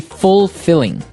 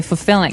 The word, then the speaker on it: fulfilling: the pronunciation you say fulfilling. No, you say fulfilling. Fulfilling. So the L there is kind of silent.